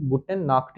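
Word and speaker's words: Gute Nacht: उ दोनों आते हैं, तो हम लोग की ये आवाज ये ख बन जाती है। इसलिए इसे कहेंगे गुटेन नाक्ट।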